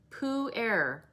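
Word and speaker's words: pu-erh: was hosting the workshop said puair which he said is spelled p-u-e-r all those times it does have an h also um he said the way to remember it is think of winnie the pooh breathing so poo air but you're supposed to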